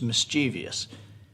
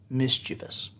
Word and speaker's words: mischievous: something about ollie and i said it was mischievous and gabe said i think that's mischievous and he is right